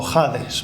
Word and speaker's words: Hades: Testamento y la palabra griega Hades del Nuevo Testamento o jades pronunciado con j luego hay una tercera